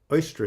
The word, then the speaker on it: Eostre: Oestra is how you pronounce it.